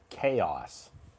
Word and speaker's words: chaos: on the screen uh which is pronounced uh chaos yes as you see here guys the uh the SS goes on the first syllable and we just producing